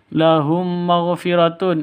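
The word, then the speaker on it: لَهُم مَّغْفِرَةٌ: Lahum maghfiratun, mim mati bertemu dengan mim. Bacaan cara bacanya masuk ke mim yang kedua, dengung 2 ketukan karena idgham mimi atau idgham mislain.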